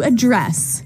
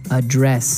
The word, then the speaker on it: address: address has the stress the stress on the second syllable okay a dress yes